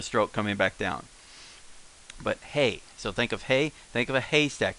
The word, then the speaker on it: へ: he and but the pronunciation for here is hey as say hey as in hey or shame hey hey uh in fact